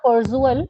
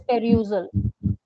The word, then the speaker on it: perusal: It's not perusal, it's perusal. P-E-R-U. Perusal. Perusal भी बोलते हैं, perusal भी बोलते हैं. थोड़ा सा U sound कम करना है इसमें.